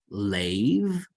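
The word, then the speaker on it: לֵב: This is a bet, but there's no dagesh in it. So it is pronounced with the V sound.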